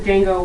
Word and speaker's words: Django: You know there's a D in Django, right? It's silent. I'm not spelling Django. Yes, but I saw Google suggestions and it said Django without the D. The D is silent.